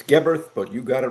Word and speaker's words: Geberth: Commander Vernon Geberth, and I'm confident I have pronounced his surname right on this occasion. Am I right? Well, that's pretty good. It's Geberth, but you got it right.